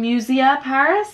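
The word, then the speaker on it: Musier Paris: be up on my instagram but it's from musia paris is how you pronounce it and it is gorgeous it's like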